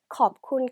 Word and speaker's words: ขอบคุณ: 자, 고맙습니다는 컵쿤 크랍, 컵쿤 크랍, 크랍이라고 한 걸 봐서 남자네요.